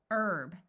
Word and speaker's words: herb: say ow hour hourly herb note that in the US the H is silent in this word but in some countries